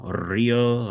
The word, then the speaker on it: Rio: So, the city of Rio Rio. Rio, it's H.